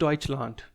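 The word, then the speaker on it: Deutschland: और जर्मनी को बोलते हैं फ्रेंड्स डइच लैंड।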